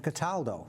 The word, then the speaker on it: Cataldo: chase and with us this evening is cataldo did i pronounce that correctly you pronounce it perfectly